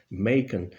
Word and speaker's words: Machen: arthur make en que yo siempre he pensado que se pronunciaba imagen al estilo alemán pero por lo que parece en inglés se pronuncia maker acaban de reeditarse en